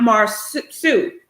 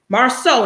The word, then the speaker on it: Marceau: um d lipscomb said somebody please correct monica on the pronunciation of his name marsu not mars sue marceau not marsup i like